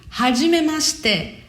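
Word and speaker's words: はじめまして: Esse shite, mas se pronuncia muito em japonês como se fosse shite, como se não tivesse o i, né? Fica hajimemashite. Hajimemashite.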